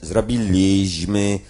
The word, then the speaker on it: zrobiliśmy: O, charakterystyczna sprawa, państwo możecie nie pamiętać, kilkanaście lat temu na przykład pisało się normalnie zrobiliśmy, a prawidłowo podówczas należało wymawiać zrobiliśmy.